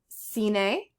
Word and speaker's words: cine: I is pronounced E as in B, like cine, that means movie theater.